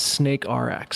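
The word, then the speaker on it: SNKRX: of the interview was how do you pronounce SN krx um and uh the developer the creator of the game has confirmed it is snake RX snake RX okay yeah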